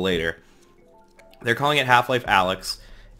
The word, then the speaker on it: Alyx: they're calling it half-life Alex Alex is almost definitely the way it's spelled Alyx Vance who was